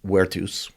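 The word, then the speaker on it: virtus: Their word uh werus because the Romans didn't pronounce their V's strangely enough.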